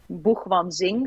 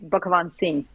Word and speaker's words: Bhugwansing: I mean, the the Dutch people say basically Banzing. So the way it's written, but it's an Indian name, but the real pronunciation is actually Bakan Singh.